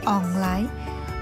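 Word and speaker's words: 旺來: has its auspicious meaning in hokkien dialect pineapple is pronounced as online means prosperity line means come there is prosperity has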